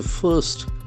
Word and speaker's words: first: You open amps to first batch first. F A R S T. So it's a very important sound system. First first the middle R is silent.